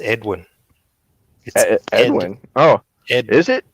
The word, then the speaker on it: Edwin: man maybe maybe somebody could enlighten me who meth win is what I his name is pronounced Edwin Edwin oh it is it it it wouldn't